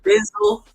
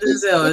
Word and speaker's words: Denzel: Denzel. It's not Denzel.